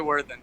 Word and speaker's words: Worthen: Worthen.